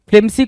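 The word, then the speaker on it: flimsy: ये भी एंटोनिम बनेगा किसका, फ्लिमजी का। डन। फ्लिमसी कुछ लोग बोलते हैं तो फ्लिमसी भी बोल सकते हो, ऐसा कुछ हार्ड एंड फास्ट नहीं है, प्रोनाउंसिएशन आपके ऊपर होता है।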